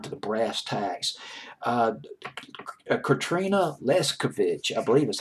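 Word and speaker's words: Leskanich: Katrina Leskovich. I think I'm trying to convince myself more than I'm trying to convince you that I can pronounce her last name.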